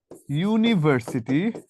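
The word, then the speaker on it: university: Example আপনাকে যদি বলা য় হি ইজ আ ইউনিভার্সিটি ইউনিভার্সিটি student. তাহলে এই যে হি ইজ ইউনিভার্সিটি স্টুডেন্ট। এই ইউ এর মত উচ্চারণটা ইউ না হয়ে ই এর মত হয়েছে।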